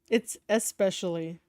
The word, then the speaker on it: especially: When you're a wrestler, Especially, it's especially. You have to pronounce the E. I'm just saying, it's especially.